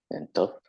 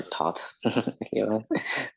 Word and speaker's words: Thoth: gods Amun, Ra, and Thoth, yes, or Thoth, Thoth. Yeah, it's pronounced differently kind of everywhere, if you will, but it's either Thoth or Thoth.